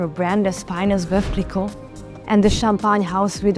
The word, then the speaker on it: Veuve Clicquot: Let's get the pronunciation right. It's Veuve Clicquot.